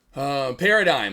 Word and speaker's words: paradigm: Paradigm. Okay, cool. Gosh, damn, that one. Now that's a hard one there. I'm like, what's the silent G?